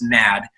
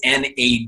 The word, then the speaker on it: NAD: And by the way, it's not pronounced NAD. It is NAD. It's an acronym, and for nicotinamide adenine tridinucleotide. So it's an acronym, NAD.